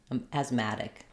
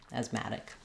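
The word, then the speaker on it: asthmatic: that unstressed syllable and this is an example of a word where we have the the letter T between two vowels and it's not followed by a stressed syllable so we use a flap here which sounds like a light D asmatic asmatic once you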